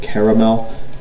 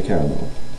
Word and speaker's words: caramel: It is spelled caramel in this instance, but I never say caramel. It's got too many syllables for my lazy ass. It's caramel.